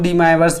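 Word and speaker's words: De Moivre: का भी यूज है, क्योंकि डी माइवर्स थ्योरम है, कुछ लोग डी माइवर्स भी पढ़ते हैं, डी मोवियर्स भी पढ़ते हैं, जैसा भी आपका प्रोनाउंसिएशन है।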